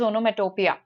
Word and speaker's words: onomatopoeia: Okay, it's the spelling is poia, but we pronounce it as onomatopia, right?